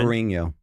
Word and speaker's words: Ferrigno: Lou Ferrigno. The GN makes like a nya sound like gnocchi.